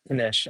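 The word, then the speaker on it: knish: Kanish. I think it's that. Kanish? That's what I think. You Maybe. do pronounce this K? What is a staple of Jewish cuisine pronounced Kanish?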